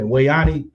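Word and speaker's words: We'Ani: gosh you hear yeah Wayan it's spelled we and it's a it's space we hyphen or not hyphen but apostrophe we Apostrophe a ni I her name Wayan and she got like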